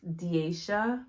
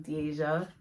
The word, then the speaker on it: Deasia: made me to be it's diesha but everybody calls me Deasia I don't know if you can tell the difference but I can there's